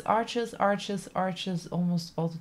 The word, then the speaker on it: Arches: I'll probably keep saying arches me too to see you Anna thanks for coming I refuse to say it like that arsh means Ash means but in German so it sounds weird for me same same so for